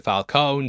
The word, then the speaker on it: Falcone: Falcone appeared in both, but here they changed the pronunciation to Falcone, so it sounds more like Falcon.